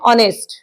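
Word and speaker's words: honest: वापरतो सायलेंट्स म्हणजे काय समजा इथे एम्पल बघा ऑनेस्ट बरोबर आता मी हा उच्चार करताना कसा केलाय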